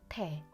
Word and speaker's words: 태: By putting these two Korean letters together, we can make the syllable block tae.